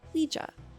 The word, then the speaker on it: Ouija: For those who do not know what the Ouija board is, it's spelled O-U-I-G-A, but pronounced Ouija.